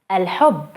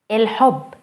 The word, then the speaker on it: الحب: الحب, الحب, الحب. Notice the difference between el and il.